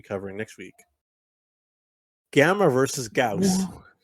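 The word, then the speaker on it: Gyaos: Gauss?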